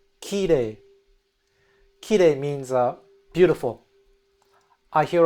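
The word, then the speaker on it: 綺麗: So in the standard dialect, it's pronounced high pitch to low pitch. Ki re. I'm going to exaggerate. Ki re. Kire. Whereas a lot of non-native speakers make the mistake of saying ki re. So you have those two syllables, they go from low to high. In standard dialect, it's actually high to low.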